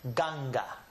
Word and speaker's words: ganga: So the bottom word has a G sound, so it is pronounced ganga.